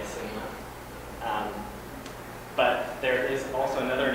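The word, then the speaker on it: SNWA: It's pronounced, you can pronounce it Sinwa, S-N-W-A, Sinwa. But there is also another name for them. That is the headquarters of the Confederated Tribes of the Goshute Reservation. So Sinwa is in charge of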